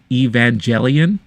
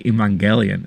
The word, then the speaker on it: Evangelion: When I was growing up, I remember I used to say Evangelion, but then I heard someone say Evangelion. I was like, wait, is that the right way to say it? And I found out that it was.